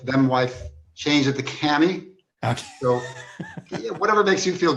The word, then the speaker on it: Kamhi: come here or cammy or how do you pronounce your last name it originally was commie but uh when i got married my my wife them wife changed it to cami so whatever makes you feel good mike the